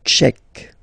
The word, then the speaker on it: Tchèque: La République tchèque. So remember, Q-U-E, K, K, Tchèque. La, and then here as well, République. La République tchèque.